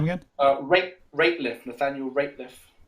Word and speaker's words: Rateliff: say his name again uh rape rateliff nathaniel rapeliff r a t e l i double f